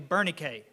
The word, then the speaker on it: Bernice: the English pronunciation I don't know the American pronunciation uh because her name is actually Bernay is how you say it uh and you